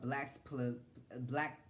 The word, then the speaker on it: blaxploitation: How do you pronounce it? It's called blaxploitation or whatever.